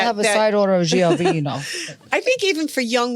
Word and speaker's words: Giovino: Giovino.